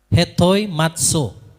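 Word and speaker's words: ἑτοιμάζω: Hetoi matso bacanya gitu ya.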